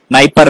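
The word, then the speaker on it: Dnieper: it is knight river d is silent here nipper river which operation was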